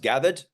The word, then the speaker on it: Gathid: gathered so it's pronounced gathered uh and that's a combination of two words gathered identities the way that an